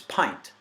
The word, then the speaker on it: pint: right and then but it's pint with the long eye that's at that diacritical mark that means it's a long eye you know so pint well that rhymes with nothing absolutely nothing there are no common words anyway in the English language that rhyme with pint everything else that looks